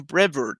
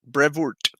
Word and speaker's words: Brevoort: would be asking him on the show Tom Brevard Brevoort I'll blame that on the one I never knew how to pronounce his name coined the name omnibus so